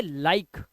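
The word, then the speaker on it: like: किसे साइलेंट रखना है? हमें ई को। तो इसे हम पढ़ेंगे लाइक, लाइफ, शेयर, शेरे नहीं, मिके नहीं पढ़ना है,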